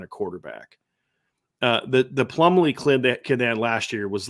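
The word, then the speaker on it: Plumlee: else John I think it's John ree Plum plumbley is how you say his name yeah a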